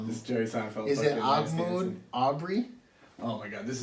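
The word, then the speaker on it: Ahmaud: So, Muslim name, I would pronounce it Ahmed, but Ahmed? Ahmoud. Let me see, where is it? Ahmad. Ahmoud. It's Ahmad.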